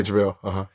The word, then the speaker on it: JaVale: Am I pronouncing his name? Yeah, JaVale.